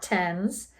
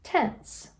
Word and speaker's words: tense: But it's not tens. It's tense. So, we have an e there.